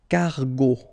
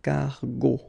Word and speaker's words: cargo: So if you check, it was the second letter that we stated previously, so you will pronounce the word cargo, okay, cargo, go, cargo, all right.